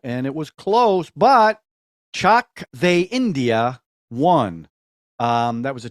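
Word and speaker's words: Chak De India: the correct print pronunciation I thought it was chalk day India he told me it was Chuck they India or let's go India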